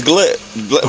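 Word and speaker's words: Goulet: My middle name is Glette. Last name's Glette. Spell it.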